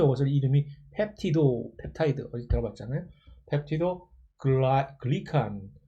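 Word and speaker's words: 펩티도글리칸: 펩티도 글리칸, 원래 영어 원어 발음은 펩타이드 글라이칸인데 한국말로는 펩티도 글리칸이니까 이런 거 보면 한국어와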